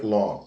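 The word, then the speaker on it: לא: Lembrando que no hebraico se escreve da direita para a esquerda e o aleph não tem som nenhum.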